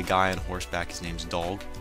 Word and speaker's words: Dolg: on Horseback his name's dog I wanted to call him dog when I was pronouncing this but it's d o l g so my bad it's dog and dog